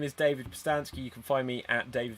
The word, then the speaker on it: Pustansky: Okay, so my name is David Postansky. You can find me @David Postansky, which is spelled PUSTANSKY, on Facebook, Instagram, and Twitter.